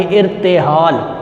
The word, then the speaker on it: ارتحال: الف کے نیچے آئے گی زیر، رے پر ہوگی جزم، تے کے نیچے بھی آئے گی زیر، ہے کے اوپر آئے گی زبر، اور لام پر جزم لگا کے آپ لفظ بنائیں گے ارتحال۔ دوسرا لفظ ہے شعار۔